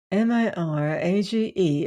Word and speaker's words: mirage: added marage and marage m i r a g e is pronounced Mirage said valency shortly picking